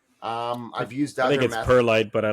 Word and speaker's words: perlite: Um, I've used Purelyite. Um, I don't know if it's I'm saying it right, but Pureite. Um, I've used other perlite, but I like it.